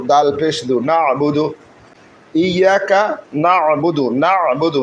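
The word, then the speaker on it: نعبد: পেশ বু দাল পেশু নাবুদু ইয়াকা নাবুদু নাবুদু নুন আইন জবর না বা পেশু দাল পেশু নাবুদু আমরা কোরআনকে কোরআনের সুরে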